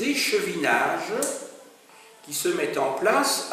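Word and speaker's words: plaids: PLA, ça s'écrit P L A I D S.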